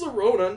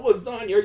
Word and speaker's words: Lorona: It's Lorona, not lasagna.